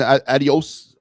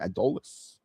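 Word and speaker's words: Adolis: So with the changes with Justin Crawford and Addios, Adolles, that's how you say his name, Adolles, Garcia, the absence of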